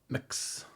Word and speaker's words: Mx: options of Mr Ms or how do you pronounce MX mix yeah um or you can add your own